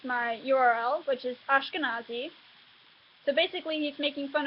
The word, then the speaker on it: Ashkenazi: But if he had, then he mispronounced my URL, which is Ashkenazi.